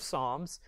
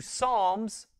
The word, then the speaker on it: Psalm: When pronouncing and referencing the book of Psalms, you need to remember that you're referencing a hymn book. Therefore, you don't say, turn to Psalms 23. No, it's Psalm 23, or the 23rd Psalm.